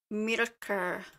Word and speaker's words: Myrkur: She says it right here. Myrkur. Okay. Yeah, I can't roll my R's to save my life.